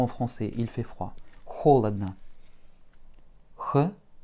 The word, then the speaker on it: холодно: Холодно. Ch, O, L, O, D, N, A. Et un bel accent sur la première syllabe, ce qui rend nos deux derniers O comme des petits A.